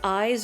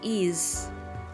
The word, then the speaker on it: Ys: I've heard people say eyes or Ys, but I can confirm it is Ys.